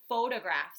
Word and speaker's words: photograph: and the same with photographs so in my small group today we were talking about photographs and how photographs are in um nonfiction books photograph also sounds like but it's spelled ph all right so these